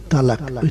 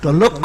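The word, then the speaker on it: طلاق: বলুন আমি বললাম তো তালাক তালাক শব্দটা ভালো করে বলুন তালাক তালাক তালাক কথা বলে আরবিতে আছে ত অক্ষর আর শেষে আছে দু নুক্তাওয়ালা কফ উচ্চারণটা হবে তলক্ষ হক করে আমি বলি যাও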